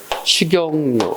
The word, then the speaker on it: 식용유: 앞에 받침 문절 다음에 뒤에 이하고 같지? 소리상 니은이 첨가되고 앞에 받침이 뒤로 넘어가서 식용유 이렇게 발음되죠. 맞죠?